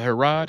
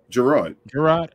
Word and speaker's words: Gerard: Was it Herod? Is that how you pronounce it? Gerard. Okay, Gerard.